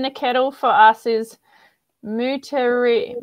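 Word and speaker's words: Moutere: kettle for us is moote mouter let me find that again um it's spelled m-o-u-t-e-r-e mooter um cascade and tetra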